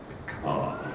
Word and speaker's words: Picard: If you ever say that title to anyone, you must say it like this: Star Trek Picard.